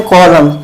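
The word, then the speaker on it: column: कॉलम अच्छा य देखो इसे क्या पढ़ते है कॉलम य जो ए होता है य साइलेंट होता है ठीक कॉलम अब देखो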